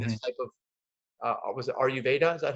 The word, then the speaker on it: Ayurveda: this type of was it Ayurveda?